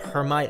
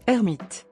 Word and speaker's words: Hermite: And this technique goes by the name of Hermite interpolation, although his name really is supposed to be pronounced Hermite, since he is a French mathematician.